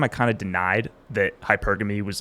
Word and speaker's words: hypergamy: If you pronounce it from the Greek, it's hypergamy.